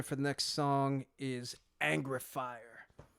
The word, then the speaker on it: Angreifer: the next song is angrifier i'm pretty sure that's how you pronounce that in any case i